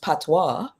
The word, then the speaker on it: patois: away from calling it patois. Because patois is actually originally a derogatory term to refer to a Creole language, and patois, it's actually pronounced patois in the original language, which is French.